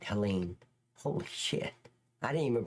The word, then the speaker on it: Helene: I said it right, Helene.